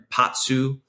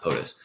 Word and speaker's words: Potsu: But Potsu, not POTUS. Potsu Radio.